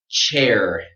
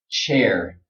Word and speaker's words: chair: Okay, this word chair, chair, chair. If you want to pronounce this sound correctly, you have to be strong right here around your lips. It has to be very tight.